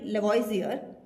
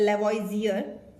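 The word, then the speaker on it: Lavoisier: ठीक है, जो एंटोनी लेवॉइजियर है, देखो अलग अलग प्रोनाउंसिएशन होती है, बट जो हम लोग बोलते हैं दैट इज एंटोनी लेवॉइजियर या लेवॉइजियर।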